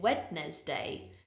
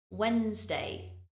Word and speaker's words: Wednesday: Again, the spelling of this word means that some people pronounce it Wednesday. But if you listen again and repeat after me, Wednesday, Wednesday. Only 2 syllables in this word, Wednesday.